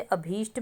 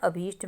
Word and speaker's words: अभीष्ट: ट ठीक है ना जैसे अभीष्ट में ट की साउंड आ रही है ट पीछे ठीक है ना अभीष्ट में षटकोण वाले श के बाद ट की साउंड है तो वहां आपने अठ लिखोगे तो गलत है उसके बाद है क्लिष्ट